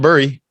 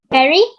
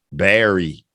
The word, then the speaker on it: bury: pronunciation is bare rahr Berry yeah see ER Berry like a berry that you would eat and he's burying some